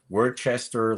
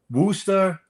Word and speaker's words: Worcester: like Worcester, Leicester, and it's like Worcester and Leicester and Rooster. Well, we have it's the third biggest city in Massachusetts called Worcester. So somebody would look at that and say Worcester, but I pronounce it Worcester forever.